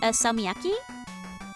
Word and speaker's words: salmiakki: Salmiakki?